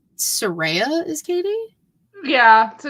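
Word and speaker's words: Cady: pronounced like k k it's pronounced like Katie oh okay so I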